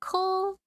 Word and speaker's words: Komori: Oh, it's Komori. Komori. Ko rhymes with slow.